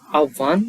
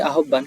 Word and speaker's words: আহ্বান: এরপরে হচ্ছে আহ্বান, এটি হচ্ছে আহ্বান, আহ্বান আমরা পড়ি আহ্বান, কিন্তু এটি হচ্ছে আহ্বান, আহ্বান হলে হচ্ছে আহ্বান।